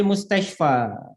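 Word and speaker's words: مستشفى: Huwal ana fil mustashfa.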